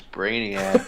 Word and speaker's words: Brainiac: Probably because his name is Brainiac. It rhymes with maniac.